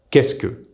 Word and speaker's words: qu'est-ce que: Se becomes the single s sound. This is why est-ce que is pronounced est-ce que, and qu'est-ce que becomes qu'est-ce que.